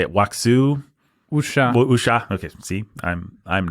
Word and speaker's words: wuxia: Wuxia. Wuxia. Okay. See, I'm not someone that knows how to pronounce Chinese words.